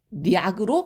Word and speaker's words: 물약: 그래서 물약 발음 너무 어려워요. 그죠? 자, 요거를 조금 더 쉽게 물리약으로 발음을 합니다.